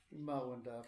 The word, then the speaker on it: Himawanda: And then the scene of Himalaya, Himawanda, in Myanmar way, we pronounce Himawanda forest scene.